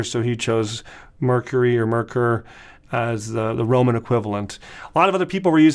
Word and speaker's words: Merkur: that comes from uh if you ask a German to say they're going to say merker merker merker um I if if